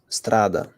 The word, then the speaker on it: strada: but it's Strada yes but Strada is pronounce um very fast compared to F so f is just slower pasted uh compared to Strada Strada is much faster you say Strada yes